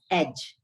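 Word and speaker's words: edge: देखिए first word is एज, तो हम एज बोलते हैं, डी इज साइलेंट।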